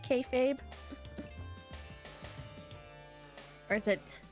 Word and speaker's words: kayfabe: all the noise also did I say it right kayfabe or is it K Fab I did say it